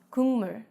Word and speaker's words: 국물: 기역 becomes an 이응 sound, so 국물 becomes 국물.